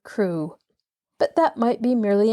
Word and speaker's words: Crew: Madame Pascal pronounced it as if it were Carew instead of Crew.